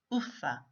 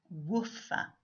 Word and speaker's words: Wuffa: if you've noticed that I'm pronouncing the King's name offer rather than woofer with a very strong warm sound this is because I've read that the pronunciation of words was different in the olden days in the same way